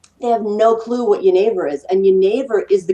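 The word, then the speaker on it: genever: the magical Elixir called yavor um it's actually like Geneva but Geneva is the way it's spelled g NE v r but yor is now the Dutch and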